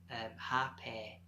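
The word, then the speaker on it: rapé: I discovered another medicine called repair and I pronounced happy and this wasn't this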